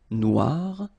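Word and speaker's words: noire: it's quite funny because you will have to add this at the end of Noir for the feminine form but then you don't pronounce it okay so phonetically it is exactly the same Noir Okay g don't pronounce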